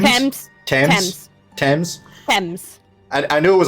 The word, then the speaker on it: Thames: seem to be headed towards the team the teams Thames Thames I knew it was a hard tee